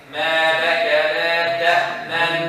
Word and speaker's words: تأمنا: ما لك لا تأمنا You see, I'm going to stop, pause for a second. See if you could hear the dhamma. Do you hear anything? No. But there exists.